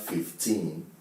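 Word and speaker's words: fifteen: teen, the teen numbers, you always stress them on the second syllable. So now we have 15. You can see the one in capital letter is the stressed syllable. So this is a two-syllable word or bisyllabic word. 15. The stress has to be on the teen.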